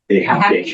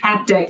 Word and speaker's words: haptic: routine it'll give you I'm gonna say it wrong habit haptic I always say habit but it's a haptic so it's like a